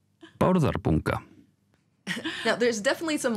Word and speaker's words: Bárðarbunga: They have a little video that teaches us just how to pronounce it. Bárðarbunga. Bárðarbunga. Bárðarbunga.